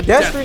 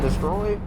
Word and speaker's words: Destry: who would win a Destry nomadic. That's how you say it, bro. A lot of people be like, destroyed.